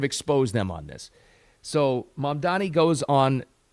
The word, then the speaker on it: Mamdani: 85% probability odds that this Zamdani guy, Mamdani, excuse me, I keep getting his name wrong, is going to win.